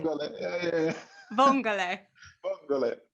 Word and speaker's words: vongole: Vongole. Vongole. Am I right? Did I say it right? Vongole. Yeah. Vongole.